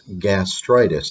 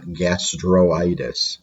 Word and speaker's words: gastritis: need another combining vowel so it's gastritis not gastroitis okay so gastritis so drop